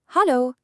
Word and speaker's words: Hallo: Listen to how incredibly similar it sounds to English. Hel-lo. It is honestly so easy for beginners to remember. Try it out with me right now. Hallo. It's just a slight change in the vowel sound, but everyone in Austria